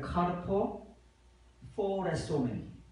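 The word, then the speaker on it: καρποφορήσωμεν: 카르포 포레소멘. 카르포 포레소멘. 이 포와 이 포는 발음이 영어의 P와 F 차입니다.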